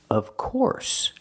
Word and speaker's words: of course: the short uh sound like cup and up of and the F sounds like a vvv sound like very together of of course in the word course use the or sound like more and floor course together of course this is the most